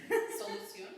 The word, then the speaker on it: solución: So yeah, so just accent is where you put the push. That's all it does. In French, the accent will change how you pronounce the letter. So that's one more thing to learn. Spanish, accent, just put the push. How would you say the solution? Solución. Yeah, so solución is good.